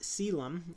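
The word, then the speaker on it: Caelum: But the constellation is pronounced Selam.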